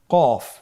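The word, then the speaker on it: ق: ক আবার বলুন কু এ হরফটি কিন্তু আপনার মোটা অক্ষর মোটা হরফ বলার সময় উচ্চারণ করার সময় অবশ্যই মোটা করে পড়তে হবে তাহলে আগের অক্ষরটি আমরা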